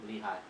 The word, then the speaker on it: Lehi: Lehigh.